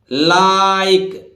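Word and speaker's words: like: पता है अंत में किसी शब्द के अंत में आई इ का उच्चारण सामान्यत नहीं होता है सामान्यत क्या 99999 प्र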